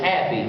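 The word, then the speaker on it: Hapi: you remember last week we mentioned one name happy and I looked up the pronunciation I thought surely that's half higher or something weird like that it's not it's happy which is is ironic because after all these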